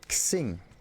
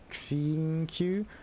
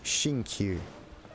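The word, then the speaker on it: Xingqiu: or something yeah it's it's written as an x but it's not pronounced as an x in this case it's not x singu it's more like seeing q at least for normal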